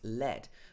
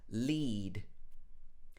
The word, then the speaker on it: lead: to speak lead lead sometimes this can be pronounced lead but that's when it's a noun means the metal but as a verb in the present tense this is pronounced lead if you're going to